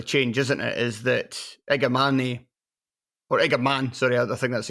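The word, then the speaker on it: Igamane: Is that Igaman, sorry, I think that's how you pronounce it. I don't think you pronounced the E at the end.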